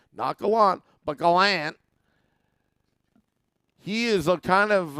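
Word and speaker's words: Gallant: proven this year that Galant that's how he wants us to pronounce his last name knuckle on but Galant he is a kind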